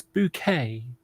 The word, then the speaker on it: Bucket: yes with with the what's her name bouquet but bouquet but it was actually spell Buck I remember that so every time you know someone was you know sort of Miss bouquet sorry Mrs bucket it's bouquet and the husband would